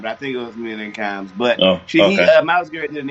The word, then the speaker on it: Mina Kimes: Mina Kimes is how you say it.